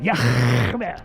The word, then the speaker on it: Yah: His name is Yah. That's how you pronounce it. Yah.